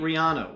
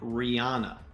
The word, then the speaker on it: Rihanna: else you got all right finally the great Rihanna will headline the first ever Apple music Super